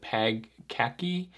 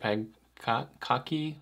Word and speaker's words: Pagkaki: This one's called Pagkaki. I think that's how you say it, Pagkaki, whatever it is, P-A-G-K-A-K-I.